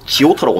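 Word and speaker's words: Giotto: 근데 이 사람 보다 더 잘 그리는 건 이 사람의 제자 조토. 발음 좀 이상한데 지오토라고 말하면 되거든요.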